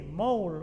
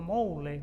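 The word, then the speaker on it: Moule: voz de alerta entonces hanley moul o mole como se pronunciaría en castellano A fines del siglo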